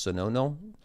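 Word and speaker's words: Suno: Uh there's a platform called I think I think it's pronounced sono s u n o.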